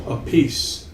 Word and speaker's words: Appice: You know, we were going to, because Carmine pronounces his name Appice. Oh yeah. So we were going to call it Masterpiece, like a masterpiece.